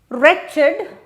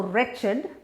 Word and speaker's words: wretched: better word or crestfallen wretched now that's a funny spelling right H it's a WR word record the W is silent so wretched is a state of